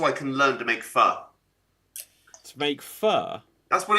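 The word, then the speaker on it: phở: I I I so want to go to Vietnam just so I can learn to make fur. To make fur. That's what it is. It's called Mhm. It's pronounced fur.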